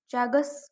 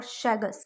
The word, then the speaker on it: Chagas: sad sud sudo chaga remember that Chagas or shagas mainly we read it it as pronounce it as shagas okay shagas disease you